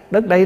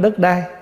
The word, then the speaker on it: đất đây: Đất đây nè, đất ở đây nè, chứ không phải đất đai. Mình nói riết nó thành trại thành cái chữ đất đai, chứ đúng ra là mình phải đọc là đất đây, tức là đất này chúng ta đang ở.